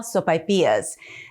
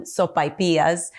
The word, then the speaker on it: sopaipillas: got to talk pronunciation i call them sopapillas others will call them sopapillas and really it doesn't matter it just depends on where you live i grew up in southern new mexico and there we all pronounce them sophias with the a and the i but they're delicious by